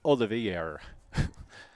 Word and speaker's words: Olivier: Pitching for Goffstown, Mackenzie Olivier. That was the French pronunciation, if you could not tell.